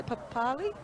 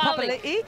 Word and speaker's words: Papali'i: How do they say Papali? Oh, yeah, Papali. Instead of Papali'i.